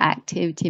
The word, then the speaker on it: activity: 4 syllables together, and the second one should be stressed.